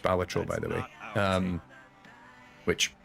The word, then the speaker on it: Balatro: about astrobot on PS5 balatro it's pronounced batro by the way um